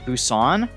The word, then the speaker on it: Busan: inventory grass i don't want you it's pronounced busan that's literally what i'm saying i'm saying busan